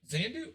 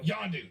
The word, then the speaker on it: Yondu: got more yeah because uh was it zan zandu how do you say his name with the mary poppins zandu yondo yondu that's what i knew what is the wire